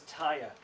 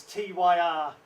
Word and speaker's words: Tyr: 17 I pronounce this as tire probably to you I don't care it was tyr tyr I think of its tire or hail and the